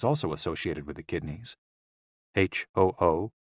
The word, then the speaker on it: HOO: HOO, pronounced like hu, which is associated with the spleen.